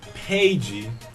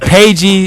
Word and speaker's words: Peja: Peja Stojakovic. Yeah. You said Peji Stojakovic. I don't Whatever. know how to pronounce that last name. I'm not good with the Yes, I do know Peja Stojakovic.